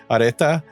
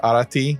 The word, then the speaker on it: Arete: so throughout the generations, they kind of changed the pronunciation of her name to like a more contemporary. So yeah, a lot of modern day people were calling her Arete, but really her name is Arete.